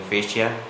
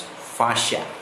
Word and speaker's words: fascia: why am I telling fascia, it's because it is the Indian pronunciation, the Eastern pronunciation, of course, whereas in the Western world it's pronounced as fascia.